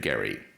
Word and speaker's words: Gerry: known as the gerrymander Elbridge Gerry pronounced his name with a hard G we pronounced gerrymander with a soft G I don't know when